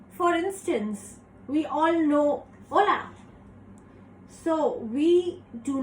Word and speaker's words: hola: pronounced as o so H is actually silent in Spanish so even though we write the letter H we do not pronounce it so for instance we all know hola so we do not